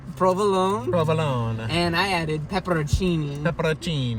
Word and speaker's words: peperoncini: provolone and I added peperoncinis the protein you finally learn how to say it it's not pepper on singing like we were saying